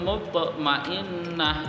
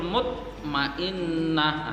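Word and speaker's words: المطمئنة: Di situ ada huruf to berharokat sukun di tengah-tengah kalimat. Ya ayyatuhan nafsul mutmainnah, huruf to-nya berharokat sukun, maka membacanya harus dipantulkan. Yang benar, ya ayyatuhan nafsul mutmainnah, itu yang benar ya. Yang salah yang bagaimana kalau tidak dipantulkan? Ya ayyatuhan nafsul mutmainnah, itu salah sekali karena huruf to di situ berharokat sukun,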